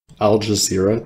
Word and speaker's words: Al Jazeera: Al Jazeera? That's how you pronounce it. Like, it's not... Yeah, like that.